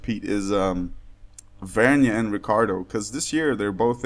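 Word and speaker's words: Ricciardo: uh Ricardo I know I find it silly not to pronounce the I but that's how the guy says it so Ricardo and what is weird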